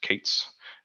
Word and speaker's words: K8s: So yeah, Kubernetes is often shortened to K8s, sometimes pronounced Kates.